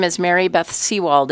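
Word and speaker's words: Sewald: For the record, my name is Mary Beth Seawald. It's spelled M A R Y, capital B T H S E W A L D.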